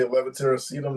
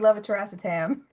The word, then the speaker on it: levator: Yeah, I can say levitatorum now because Kate said it so much and I'm pronouncing it wrong. It was supposed to be levator.